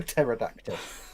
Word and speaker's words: pterodactyl: Patera tech to a pterodactyl you can't hear them go to the toilet because the P is silent ten points for that